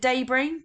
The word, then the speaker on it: debris: poisonous we've looked at Dey Dey is one of of our vocabulary spelling words that we looked at last week with our silent letters so debris is to do with